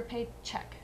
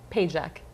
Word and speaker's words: Pajek: Wait, is it Pajek or Paycheck? Pajek.